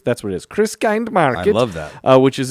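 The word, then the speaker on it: Christkindlmarkt: course also have a Christmas kind Market is how it's spelled Christmas Chris Chris kind Market that's what it is Chris kind Market I love that which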